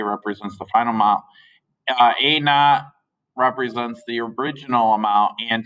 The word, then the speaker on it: a naught: point 10 times whatever a naught is so when i this is a sub zero but technically it's pronounced a naught like n o t like not like not there no